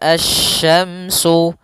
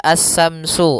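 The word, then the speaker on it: الشمس: Pada lafal asy-syamsu, di sini ada alif lam syamsiyah, yaitu alif lam yang ditulis tapi tidak dibaca, sehingga bacaannya langsung ke huruf shin. Nah, kemudian kita juga harus hati-hati dalam pelafalan huruf shin. Jangan dibaca as-samsu, as-samsu wal qamaru, bukan. Atau juga as-samsu dengan sa, bukan.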